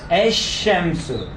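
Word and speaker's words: الشمس: We shouldn't pronounce lam. Okay? That's why we are pointing out these rules. So this lam part, it is assimilates. You shouldn't pronounce it because this letter is sooner. It is solar letter.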